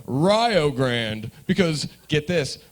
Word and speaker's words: Rio Grande: uh it's actually called rio grande because get this ryo rhymes with ohio that's the only reason